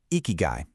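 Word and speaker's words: 生き甲斐: So, the word icky guy, you say it like icky guy, is actually made up of two different Japanese words.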